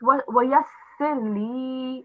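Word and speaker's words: وَيَسِّرْ لِي: And you got muddled up here. It's Wayasirli.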